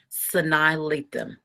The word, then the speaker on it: Sanaa Lathan: So I'm going to let my how to pronounce that I'm on YouTube. Okay, let's see what it says. Sanaa Lathan. Sanaa Lathan.